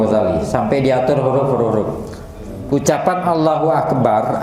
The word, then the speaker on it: Allahu Akbar: hurufhuruf-huruf ucapan Allahu akbar agar diucapkan dengan damah khfifah KH Allahu Akbar bukan Allahu Allahu Hunya terlalu ini kan monyong atau apa gitu kan santai jaringan Allahu Akbar tapi Hunya jangan sampai bercampur dengan a sehingga terucap Allahu Akbar